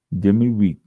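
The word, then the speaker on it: demi-muid: Demi we doesn't sound anything like is spelled d e m i m u i d.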